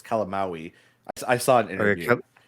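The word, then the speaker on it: Calamawy: It's like calamari, but it's calamaui.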